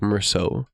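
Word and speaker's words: Meursault: French name that is actually pronounceable in English right with the e a u l t at the end and it's just like Mero it's a good name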